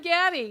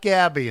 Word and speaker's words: Gaddy: And my name, Gaddy. How would you like to spell that?